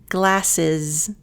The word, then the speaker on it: glasses: Glasses. Now notice here that you've got glasses. The two S's, those are that S sound, but the last S sounds like a Z.